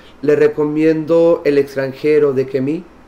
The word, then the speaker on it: Camus: recomiendo el extranjero de que me se escribe camus se pronuncia que me y le recomiendo el